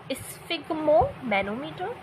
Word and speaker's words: sphygmomanometer: इसकी प्रोनाउंसिएशन देख लीजिएगा, स्फिग्मोमैनोमीटर एंड स्टेथोस्कोप।